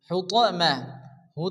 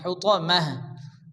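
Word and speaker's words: حُطَمَة: হবে হায় পরিণত হবে হুতমা হু তা হবে না এখানে ত জবর ত আরবিতে আটটি অক্ষর আছে যে আটটি অক্ষরের উপরে জবর আসলে অকার উচ্চারণ হয় এখানে ত জবর ত হবে হুতমাহ হুতমাহ তাহলে আমরা কি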